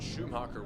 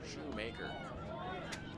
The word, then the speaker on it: Shoemaker: a shoemaker i think i might have actually said schumacher once or twice so apologies about that as it's actually said how it's spelled there shoemaker caught on and missed